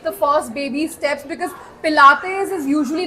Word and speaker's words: Pilates: people would call it Pilots people would call it Pilates people would call it plates splits and uh yeah so I mean obviously uh people didn't know how to say it because now everyone can